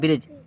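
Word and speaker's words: bridge: में आता है लेकिन यहां पर जब डी साइलेंट हो जाएगा तो बी आर आई जी ई हम पढ़ेंगे ब्रिज ई डी जी ई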